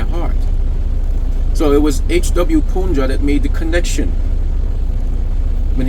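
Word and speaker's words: Poonja: That's spelled P-O-O-N-J-A, Punja, lovingly known as Papaji.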